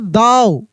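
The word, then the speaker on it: though: ओ यू जी एच तब इसको पढ़ते दाऊ थॉट नहीं दाऊ इस तरीका से थ भी नहीं दाऊ लेकिन आपको भी पता है कि जी एच जो होता है वह साइलेंट होता है।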